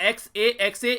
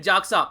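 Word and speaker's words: Xaxa: ये committee setup की गई थी यहाँ पर, जिसको XA या फिर जाक्सा दोनों ही तरीके से प्रोनाउंसिएट आप लोग कर सकते हैं. जब जाकर गूगल में आप लोग इसको प्रोनाउंसिएशन चेक करेंगे तो जाक्सा भी आप लोगों को देखने को मिलेगा और एक्से भी आप लोग इसको बोल सकते हैं. दोनों ही वर्ड सही हैं.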